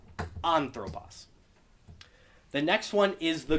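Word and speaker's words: ἄνθρωπος: anthropos anthropos yes so anthropos noce it's not anthropos it's not anthropos it's anthropos because that acute is on that first syllable anthropos the next one is the grav so the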